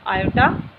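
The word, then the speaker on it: iota: क्या वर्ड है स्टूडेंट्स इसको कैसे प्रोनाउंस करेंगे आयो आईटी this is Greek word ये आई नहीं है स्टूडेंट्स ये क्या है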